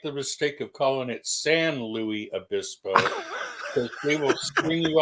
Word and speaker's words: San Luis Obispo: San Luis Obispo.